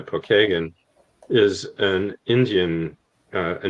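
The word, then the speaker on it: Pokagon: No, it's a Well, it's actually the name Pokeagan is how we pronounce it here in Indiana. Pokeagen is an Indian uh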